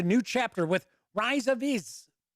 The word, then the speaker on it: Ix: The board game Dune Imperium begins a new chapter with Rise of Iz. I think that's how it's pronounced. It's IX, but I think it's Iz.